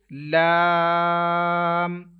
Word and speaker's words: ل: Don't make echo end of this letter like on meme, as well as don't take sound into your nose. You will have to pronounce it lam.